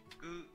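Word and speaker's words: グ: Gu. Gu, like good.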